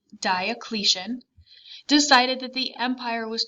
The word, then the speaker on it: Diocletian: emperor diocletian that's how you say his name diocletian decided that the empire was too large and